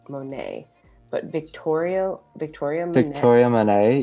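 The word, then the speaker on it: Monét: And I might pronounce her name wrong, but I'm pretty sure it's Monet.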